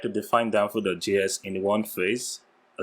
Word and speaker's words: danfo.js: on, if I'm not mistaken-- how do we pronounce it? Is it danfo.js? RISING ODEGUA: Yeah, perfect-- danfo.js.